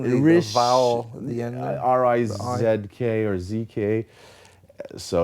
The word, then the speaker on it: Rizk: I just say Risk, just to make like it the game. easy on people. But the official pronunciation would be Rizk.